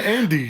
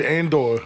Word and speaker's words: Andes: way I pronounce that you said Andor and no that's not and or from the Andes mountains and and I'm